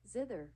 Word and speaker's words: zither: I'm going to Google how to pronounce this. Zither. Ziver.